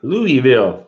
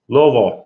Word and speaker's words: Louisville: Louisville. That's for the people from out of town. That's the way they say it. Louisville. You got to say it like you got a mouthful of marbles.